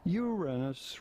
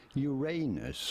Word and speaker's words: Uranus: accepted that it is preferable to stress on the first syllable when you say it rather than on the second one, and say Uranus rather than Uranus, although both pronunciations are